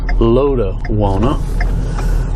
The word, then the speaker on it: Lotawana: It's actually pronounced that way, but the correct pronunciation is Lotawana.